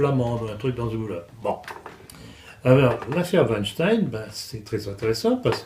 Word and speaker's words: Weinstein: le producteur de Hollywood alors j'ai apprécié votre prononciation Weinstein il y a une chose qui m'a prodigieusement amusé quand on a commencer à parler de l'affaire c'est que nombre de commentateurs faisaient la faute disait Weinstein ah oui ce qui faisait ce qui dénonçait